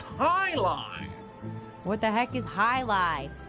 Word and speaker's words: Jai Alai: It's pronounced highlight.